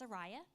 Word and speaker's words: Araya: mentioned my name he which he mispronounced he said and I just responded very badly it's Araya get it right and he saw that